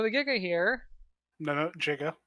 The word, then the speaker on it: Giganotosaurus: so um it's not by the way that's pronounced Giganotosaurus so the Giga here no no jiga it's a jiga starts at medium and goes